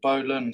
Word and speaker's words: bowline: So the next knot we're going to do is the king of all knots, the bowline, or bowline sometimes it's pronounced.